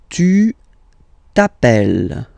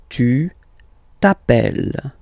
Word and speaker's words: tu t'appelles: Tu t'appelles. Okay, remember, final S not pronounced. Tu t'appelles.